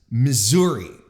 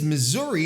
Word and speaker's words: Missouri: And from what I understand, there is no concrete, proper way to say Missouri or to name the state. You can say Missouri or Missouri. But apparently, the oldest way to pronounce it is Missouri, and this would probably be due to the heavy French influence in the state, where they would pronounce it in a French way, because obviously, originally the